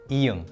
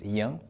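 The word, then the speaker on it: 이응: The name of this consonant is iung, and you don't have to know that for now. And if you see it at the beginning of a syllable, it doesn't have any sound value. It's just used as a placeholder.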